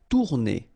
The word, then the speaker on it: tourner: Tourner. Same thing here, if you listen carefully, tourner. R is not that strong.